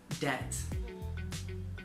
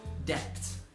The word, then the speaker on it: debt: the next word is debt debt and again if you look at the spelling of the word the b is actually silent it's not depth it's just debt now what this is